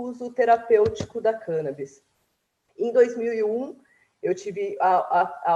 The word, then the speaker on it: cannabis: vez que eu escutei a pronúncia sobre cân Abis e não cannabis e foi ele de apresentou falando que essa seria a pronúncia correta não foi a pronúncia